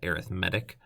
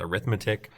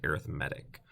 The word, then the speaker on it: arithmetic: so um you here I pronounced that arithmetic um a lot of you are probably looking at and saying it's arithmetic so you're right if it was like Reading Writing arithmetic that's how it would be said but since we're talking about the kind of sequence it changes its pronunciation to arithmetic um and it has